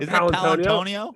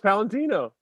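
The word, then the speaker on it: Paolantonio: It's not Palantonio. No, it's Palantino.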